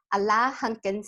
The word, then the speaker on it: Alain Hunkins: But Alain Hunkins, did I say it right?